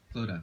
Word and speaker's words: Clodagh: Clodagh. Sorry, I thought it was like, I was saying Chloe in my head. Sorry, I because I thought maybe it's a weird silent D.